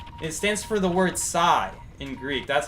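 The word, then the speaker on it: psi: a Greek symbol it stands for the word Sai in Greek that's how you pronounce it Sai so Sai key I learned that in biology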